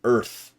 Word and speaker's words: Earth: Earth. If you notice that, that's one syllable. Earth. Adding that second syllable just interrupts it a bit.